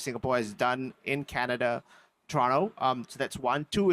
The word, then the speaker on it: Toronto: Uh, I lived in Toronto, Canada for seven years or as the locals say, Toronto.